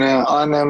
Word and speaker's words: Arnhem: glory collision three it's tell me how to pronounce this uh arnhem is it arnhem yeah it's gonna be in arnhem and the um calderdom stadium now the dome